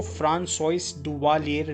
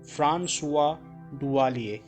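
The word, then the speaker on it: François Duvalier: इनका नाम पढ़ के, तो इसको फ्रांसोइस डुवालियर नहीं कहेंगे, ये फ्रेंच वर्ड है तो इसकी प्रोनाउंसिएशन काफ़ी अलग है। इसमें डुवालियर में आर अलग है और इसको फ्रांसोइस नहीं कहते। तो इनका नाम है फ्रांसुआ डुवालिए, ठीक है।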